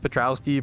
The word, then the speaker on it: Patrouski: Are you asking how to say the my name is normally said Patrouski, but I like the idea of Heart Row Sky.